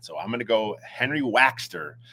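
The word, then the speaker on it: Waechter: They made a point to to pronounce his name, which I never knew. I always thought it was Waxter, but you know, it's it's Waxter.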